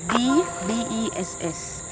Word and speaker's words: Dbess: And me don't want to misspell it. It is not B-E-S-T. It is D-B-E-S-S.